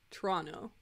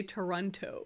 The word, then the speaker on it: Toronto: we know it's pronounced Toronto but we think it's funny to say Toronto Toronto I like to pronounce all of the t's instead of saying TR